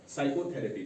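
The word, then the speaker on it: psychotherapy: P अगर पीS के combination में आता है तो पी यहां साइलेंट रहेगा। तो इसको हम पढ़ेंगे साइकोथरेपी।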